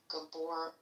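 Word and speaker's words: Gabor: Is it Gabbor? Is that how you pronounce it? Tell me the truth. Gabbor. Gabbor. Okay. Gabbor.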